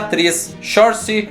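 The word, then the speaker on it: Saoirse: a tela é a 3 chance ronan ea pronúncia é assim mesmo eu demorei até aprender porque ela é um pouco diferente tem até uns vídeos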